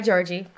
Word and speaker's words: Georgy: So, hi Georgy. Hi. Thank you for having me. Thank you for coming on. Am I pronouncing your name correctly? That's right, yeah.